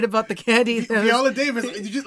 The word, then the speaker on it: Viola Davis: But speaking of Viola Davis, that's how you say her name.